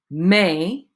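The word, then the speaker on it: mais: avec with poor for may but okay may m-a-i-s is pronounced exactly the same as the month m-a-i okay the s is not pronounced all right so try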